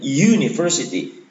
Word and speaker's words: University: yang saya keliru karena ketika Universitas itu kita baca dalam bahasa Inggris bacanya bukan Universitas topik University awalnya bunyinya Ye bukan uh sehingga kalau gurunya awalnya